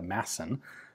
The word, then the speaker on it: Madsen: This would turn into the Madsen, or as it's properly pronounced in Danish, the Madsen, light machine gun.